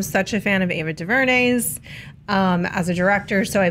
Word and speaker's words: DuVernay: First of all, I'm such a fan of Ava DuVernay's as a director, so I believe in her and her ability to execute a vision.